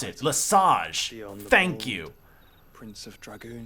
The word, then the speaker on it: Lesage: Finally, I know how to pronounce it. Lesage.